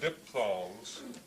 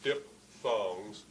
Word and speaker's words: diphthong: that technically are called diphthongs. But let me, spelled P-H-T-H, but pronounced like P, diphthongs, or diphthong.